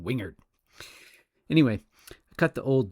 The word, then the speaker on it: Wingard: It occurs to me that the name of the company that produced the mirror is almost certainly pronounced Wingard in its country of origin, but for now at least I will stubbornly stick with my U.S. Southern Wingard.